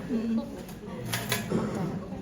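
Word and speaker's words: Kocher: Koker. Cara bacanya koker.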